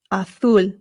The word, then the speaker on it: azul: Both are totally fine, but make sure that your U is being pronounced U. Always U.